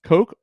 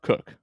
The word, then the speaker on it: Koch: Last name pronounced Koch or Cook? It's Koch, actually. The rest of my family pronounces it Koch. I'll take about anything at this point. I've heard it all, but well, Koch it is.